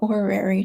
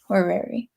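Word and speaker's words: horary: I was talking about orary charts um which is spelled h o r a h o r a r y orary which are like looking at the timing of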